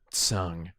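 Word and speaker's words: Tseng: Also, they pronounced Tsang's name Tsung, which is how I've been pronouncing it for years, and correct if you know any Chinese.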